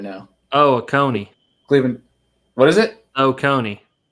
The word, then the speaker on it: Oconee: I wasn't even in the same syllables. Like, I wasn't even anywhere in the same. OCOEE, I think, or something like that. What was it? OCOEE, I think. Yeah, Oconee.